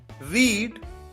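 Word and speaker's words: read: रीड रेड रेड रीडिंग यहां पर ध्यान रहे कि सेकंड फॉर्म और थर्ड फॉर्म की स्पेलिंग तो सेम होती है आर ई ए डी लेकिन प्रोनाउंस डिफरेंट तरीके से किया जाता है फर्स्ट फॉर्म है रीड सेकंड फॉर्म है रेड थर्ड फॉर्म भी है रेड और फोर्थ फॉर्म रीडिंग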